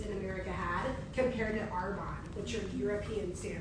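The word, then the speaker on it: Arbonne: I didn't even pronounce the word Arbon, right? Um it um I called it air bones and my sister-in-law invited me because she needed to make extra money.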